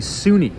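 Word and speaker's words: SUNY: Number one, you have the Sunni, which is spelled S U N Y, which stands for State University of New York.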